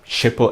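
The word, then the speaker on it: Schiphol: if you fly into amsterdam's hippo airport or how do you say that in the english way amsterdam's shipper airport you can get sim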